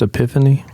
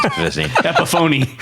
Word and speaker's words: Epiphone: it is it now is it not pronounced epiphany it is not a pronoun epiphoney yes yes but what i